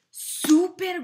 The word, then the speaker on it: súper: Y era súper guapo, súper rico y súper popular. Súper is spelled the same way as English, but it has a U in there. U, an accent on the U.